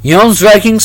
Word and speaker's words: Jomsvikings: I'm having a hard time pronouncing these letters. But they can at least try. Oh, in fiction. Yoms-vikings are the focus of E.R.